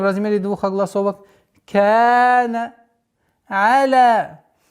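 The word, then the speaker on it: على: Аля. Из распространенных ошибок аля, аля. Твердое произношение айна и ляма является ошибочным произношением, а правильное произношение аля. Лям мягкое, айн мягкое. Аля.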